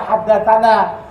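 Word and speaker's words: حدثنا: Tulisannya tani, tapi wajib kita baca haddatsani. Tulisannya tanah, wajib kita baca haddatsana.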